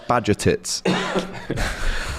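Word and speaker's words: Bajčetić: Bajcetic. Bajcetic. I think he's or playing... Or if you're Scouse, Bajcetic.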